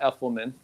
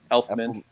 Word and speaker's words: Elfman: with i go with danny elfman not effortman elfman health man yeah you did too so i did oh you guys are adding an extra syllable in there oh man two